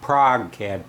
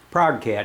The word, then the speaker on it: ProgeCAD: program that's called a Prague CAD p r o g I guess that's how you to pronounce it Prague Prague cat anyway man I can't